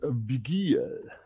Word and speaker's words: Vigil: Also wie gesagt, ne, die Operators sind Blitz, Montane, Mira und Vigil. Vigil wird da ausgesprochen. Vigil. Vigil wird da ausgesprochen. Da ist V-I-G-I-L.